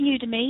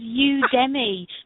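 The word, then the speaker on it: Udemy: oh you to me me yeah it is pronounced UD me yeah I thought it was UD Demi but it's I was like what does that mean but UD to me yeah UD to me um yeah it's a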